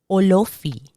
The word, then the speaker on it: Olofi: English, now we have Olofi. I find that when I hear the Yoruba say, they really emphasize on those O's like Olofi.